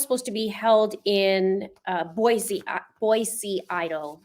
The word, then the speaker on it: Boise: The trial's supposed to be held in Boise, Idaho. I'm saying it right, Boise. Not a Z.